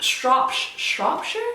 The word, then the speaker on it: Shropshire: can say like strop shropshire shropshire devonshire gloucestershire so anytime you hear or you see the word with s-h-i-r-e on the end that is sure not shire so if you are